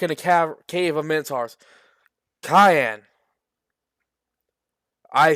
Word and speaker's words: Cayenne: Meanwhile, back in the cave of Minotaurs, Cayenne.